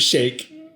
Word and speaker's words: sheikh: of dubai potentially uh it's okay to pronounce it shake because i heard it on npr pronounced that way one of them is a slur one of them is the correct title get out of here